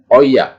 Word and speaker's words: euer: Ya, bacanya cuma oi, euer, euer.